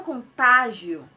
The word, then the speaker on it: contágio: Se ela é uma paroxítona e tem um ditongo no final, então ela leva acento na sua sílaba tônica, que no caso é o tá, né? Ela leva acento no A, ok?